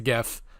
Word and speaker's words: GIF: a heads up please call it correctly it is a gift because there's already a jiff we don't need more headache